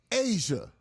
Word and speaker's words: Aja: Asia. It's not spelled like Asia.